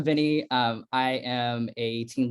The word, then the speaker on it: Viennie: off so my name's Vinnie by the way so if you're wondering how to pronounce my name I'm Vinnie um I am a